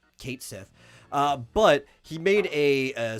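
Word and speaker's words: Cait Sith: uh said you know it it's spelled exactly or it sounds exactly as it spelled Kate Sith uh but he made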